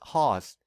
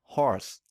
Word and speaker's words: horse: ignore certain sounds so we might pronounce this word as hoss instead of horse this is because the